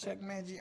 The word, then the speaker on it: Chuck Mangione: And I saw somebody make that mistake, and I'm like, how you don't know how to pronounce his name? It's Chuck Mangione.